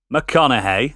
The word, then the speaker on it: McConaughey: film as well so this film starring matthew mcconaughey that's how you say it kate beckinsale patricia